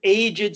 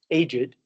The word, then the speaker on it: aged: Aged. Um in English, there are like three or four words where you have to pronounce the e. Aged to mean old, beloved